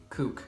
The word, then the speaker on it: CUK: challenge video called cuk or as I'm gonna pronounce it kook I'm doing a coop